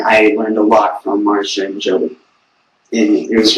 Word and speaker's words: Marcia: Marisha? Marcia Gay Harden and Yes, Jolie.